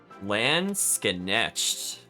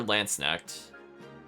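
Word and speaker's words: Landsknecht: Yeah, I think you do say the SK though. I'll do it one more time. Yeah, it's like Knesht. Yeah, it's like Lants is like how you would say it, and then Knesht.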